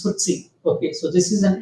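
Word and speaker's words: FTSE: you have footsy 100 ftsc is pronounced as footsy okay so this is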